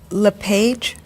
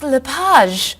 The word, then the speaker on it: LePage: I a few minutes is your last name pronounced Le page it's lipaj actually oh that's beautiful thank